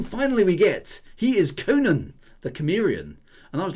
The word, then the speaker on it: Cimmerian: Oh, Cimmerian, is it? Not Cimmerian. Okay, Cimmerian with a soft C.